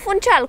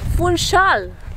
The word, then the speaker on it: Funchal: After we- dry I found out a new thing and more precisely how to pronounce the city where we live Not Funchal as I said before, but Funchal! yes our portuguese has better